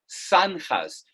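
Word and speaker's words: zanjas: those waterways were called sanjas these are pronounced in spanish like an s those are santas so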